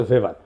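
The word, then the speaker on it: Weber: দার্শনিক আছে ম্যাক্স ভেভার এটা ওয়েভার বলে অনেকে এটা উচ্চারণ আসলে ভেভার তার একটা লেজিটিমেসি এবং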